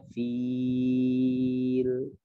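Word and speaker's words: فيل: Maka bacanya sama ya, dibacanya fil. Oh, ada oh di ujung ya. Fil. Jadi ujung lidahnya, torful lisannya, ujung ya luar sini disentuhkan ke gigi ya, gigi taring lah ya, antara gigi taring dengan gigi seri gitu ya.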